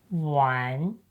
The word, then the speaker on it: 玩: When combined with the meaning brick ⺩, the initial sound shifts from ‘yu’ to ’u’. So, it becomes U + AN = ‘wan’.